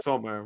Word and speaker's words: Sommer: But one thing that I have to say too is Sumer, whatever I can never pronounce his name. Yeah, Sumer. Sommer.